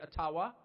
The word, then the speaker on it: Ottawa: taken from you no matter who is in Ottawa or as we say atawa which by the way is the correct pronunciation according to my friends in the ajua